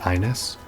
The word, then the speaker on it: Ines: I'm fairly certain it's pronounced Ines, because they say Ines Fujin during the race. And I is not one of the... It's not how you say that letter in Japanese.